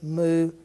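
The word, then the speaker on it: μ: like that would be the way you would pronounce this word Theta Iota Kappa Lambda moo new is the next one new looks just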